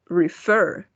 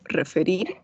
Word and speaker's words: refer: For example, el verbo referir, refer. No decimos refer, ¿no? El golpe de voz va en la última sílaba.